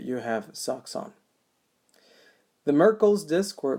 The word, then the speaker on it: Merkel: alert you that you have socks on the Merkel's disk or marquel's as some people also pronounce respond to gradual pressure and so we